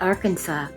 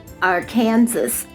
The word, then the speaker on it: Arkansas: We know Arkansas is pronounced Arkansas, but that wasn't always universally agreed upon. One senator preferred, All right, you ready for this? Our Kansas in the 1800s until a resolution was passed.